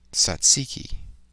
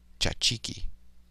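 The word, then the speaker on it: tzatziki: Satsiki. Or Greek pronunciation, tchatchiki.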